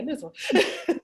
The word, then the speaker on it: Nizwa: And then I think this is my question actually, but how many foreigners live in Nizwa? Nizwa? Am I saying it right? Oh, you got it, yeah, Nizwa.